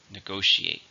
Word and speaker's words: negotiate: agree it's a verb how many syllables are negotiate for stress in a second negotiate I'm negotiating a new